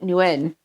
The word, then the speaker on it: Nguyen: But up here, so I went to school with there's a huge Vietnamese community up in my area. And everybody I know pronounces it Wen.